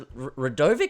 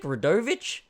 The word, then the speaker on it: Radovich: do you say your last name is a Radovic radevich right rich right of it here he is